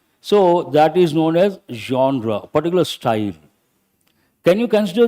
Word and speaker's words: genre: first one hold the third one this is pronounced as zra Zer or zra means style if you take